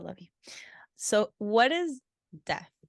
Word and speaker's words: Def: So what is Def? It's DEF in case thank you. sounds like sounding death. like death. Yeah. Right. That's my bad. Def. So Def is JB's singer, songwriter, producer persona.